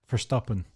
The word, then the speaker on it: Verstappen: Did you do that British thing where you pronounced Max Verstappen like people think Verstappen is pronounced Verstappen and they think they're being authentic, whereas that's not how Dutch people pronounce Verstappen. It's just a normal S.